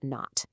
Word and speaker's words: knot: It's pronounced not.